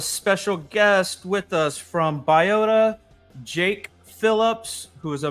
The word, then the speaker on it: Biota: Is it Biota? Biota? I've heard it a couple different ways. Yeah, I've heard it a ton of different ways. We usually go with Biota.